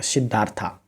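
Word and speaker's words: Siddhartha: number वाला option होगा सिद्धार्था क्योंकि इंग्लिश में थोड़ा सा इस तरह का उच्चारण होता है सिद्धार्थ हिंदी उच्चारण होगा लेकिन इंग्लिश में सिद्धार्था होगा द बेकर फ्रॉम गोवा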